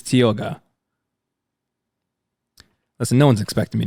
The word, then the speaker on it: Tioga: said this wrong so this is spelled Thiago this is Tioga listen no one's expecting